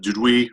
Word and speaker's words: Duduit: over me it's it's it's French it's did we or did way instead a wild I'm sorry I apologize my son my son says is that mr.